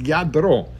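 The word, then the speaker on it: Lladró: It's Yadro.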